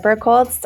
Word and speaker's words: Birkholz: So, Burkholtz, uh, well done on the pronunciation, Joe.